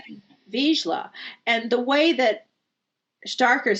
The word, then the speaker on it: Vizsla: It's really Vizsla.